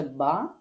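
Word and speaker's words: ب: বা যখন আমরা উচ্চারণ করব তখন আমাদের কথা বলার সময় ঠোটের যে অংশটা ভিজা থাকে সেই অংশ থেকে আমরা বা উচ্চারণ করব।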